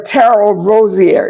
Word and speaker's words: Tarryl Rosier: so sorry people um brother Terell Rosier is that how you pronounce your name that's exactly how you pronounce it ter yes I should